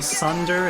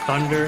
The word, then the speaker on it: thunder: in this uh channel i think they're saying sunder and not thunder and that's a minor